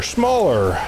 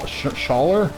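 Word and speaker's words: Shaler: get it and it's it's spelled the same way where it's s-h-a-l-e-r like why is it pronounced it's not pronounced small shawler and it's like there's no m in there where do you get the m sound yeah it's like well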